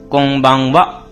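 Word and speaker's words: こんばんは: तो फिर मैं इसे वा की जगह क्यों लिख रहा हूं? तो कुछ-कुछ एक्सेप्शनंस होते हैं।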